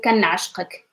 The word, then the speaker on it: كنعشقك: then you can say كنعشقك كنعشقك كنعشقك. So how to pronounce it? Say كان by itself كان and then عش and then دقك little تلفيان كنعش كنعشقك كنعشقك كنعشقك.